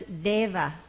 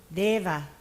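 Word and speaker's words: देव: So Deva is non-aspirate dental da. Everybody pronounce Deva. Deva.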